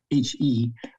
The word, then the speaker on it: He: It's Chinese pronunciation, and I don't even know how to write it, but I just write it as H-E, but it's actually pronounced He.